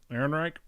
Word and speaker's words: Ehrenreich: do you say his last name it's Alden Ehrenreich Eric yeah Eric so Alden Ehrenreich has been